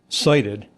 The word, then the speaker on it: SIDIT: So, si ti d pronounced uh cited.